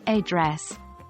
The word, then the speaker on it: address: word stress for words like address Americans stress the second syllable making it sound like a dress whereas other English dialects might stress the first syllable 2.